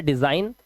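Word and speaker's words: design: कह रहे हैं एन से पहले, देखिए क्या लिखा है, एन से पहले आया जी हमेशा साइलेंट होता है। एन से पहले जी आया, वर्ड है डिजाइन, इसका मतलब होता है रचना करना।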